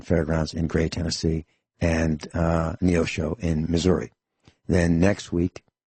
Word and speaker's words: Neosho: And they've got some shows this weekend, February 8th and 9th, Neosho, Missouri, Neosho, pronounced Neosho, Missouri.